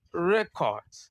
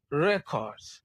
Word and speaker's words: record: As a noun, it is record. Record. Stress is on the first syllable. As a verb, it is record. Record. Stress is on the second syllable.